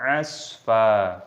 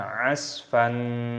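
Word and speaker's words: عصفا: Maka ketika berhenti tanda waqaf, maka dibaca mad iwad, dibaca asfa, bukan asfan.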